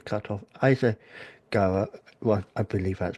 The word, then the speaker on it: Issaquah: And he's originally from, and this is me reading it because it's cut off, Issaquah, well, I believe that's pronounced, Washington.